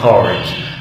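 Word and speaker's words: card: ما تقولش بالانجلش برضه كارت، تقول كارد.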